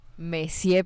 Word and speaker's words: Monsieur: ¿Está bien pronunciado? Probablemente no. Messier Periné.